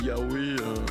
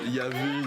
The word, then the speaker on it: Yahweh: Le titre Yahweh, je sais que on prononce Yahvé dans certains endroits, c'est exactement la même chose.